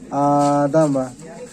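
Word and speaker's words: آدَمَ: আদা মিম জবর মা আদামা ইজরা হামজার উপরে খারা জবর খারা জবর আলিফ মাদ্দা সমতুল্য সুতরাং খারা জবরকে আলিফ মাদ্দার মত এক আলিফ পরিমাণ টান দিয়ে পড়তে হবে আ দা উপরে সবর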